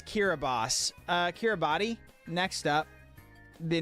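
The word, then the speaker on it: Kiribati: Uh, Kiraabati. If they wanted people to pronounce it Kiraabos, they should have spelled it Kiraabos.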